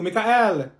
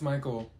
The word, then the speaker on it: Michael: Thank you, Mikael. Ma'am, it's Michael.